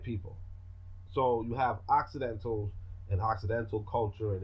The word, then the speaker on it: Occidental: it's accidental you know spelled like accidental but with all instead of an a right so an accidental roughly translated means Westerner right but it's also white people so you have Occidental's an Occidental culture and it's Orientals